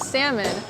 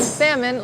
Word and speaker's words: salmon: You can find shrimp, scallops, bass, and salmon. Notice how I did not pronounce the L in salmon like you do in Spanish. Salmon.